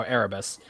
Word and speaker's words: Erebus: Okay, there you go, Erebus.